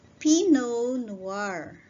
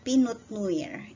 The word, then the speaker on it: Pinot Noir: This is pronounced as Pinot Noir. Okay, it's not Pinot Noir, it's Pinot Noir.